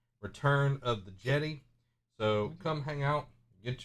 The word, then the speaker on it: Jedi: It's not Jedi, it's Jedi. This is the Jedi. I mean, it's pronounced Jeddah, so it should be pronounced Jedi. If you think about it. I don't know. Oh. I like saying Jedi. No, Jedi's fun. Sounds like Yeti.